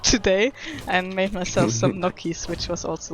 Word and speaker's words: gnocchi: like my luck today, and made myself some gnocchis, which was also like really nice food. Okay. I do love gnocchi. It's one of my favorite foods, so I wasn't too What's mad. what's gnocchi?